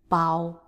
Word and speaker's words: 包: And this character, bao. Next character, 热热热热 So R is pronouncing as r, r.And then E is 热热热